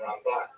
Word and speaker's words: Ramban: Rambam is pronounced with the emphasis on the first, on the second syllable. Rambam and Ramban. That's also helpful because if you can't quite make out the N or the M difference, then it helps to hear the accent.